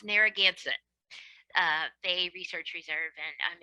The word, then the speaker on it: Narragansett: I work for it's pronounced Narragansett Bay Research Reserve, and I'm in Rhode Island,